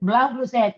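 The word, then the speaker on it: Blau Blues Set: it Blau blue set that's perfect blow blue set in Catalan my mother tongue it means blue blow is the color blue and blue set means Blue's in seven so that the first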